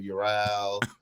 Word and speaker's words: Ural: It is Ural. It's Ural. Oral. Oh, damn it.